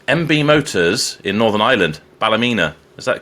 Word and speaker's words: Ballymena: Malcolm Beattie of MB Motors in Northern Ireland, Ballymena. Is that the correct way of pronouncing it?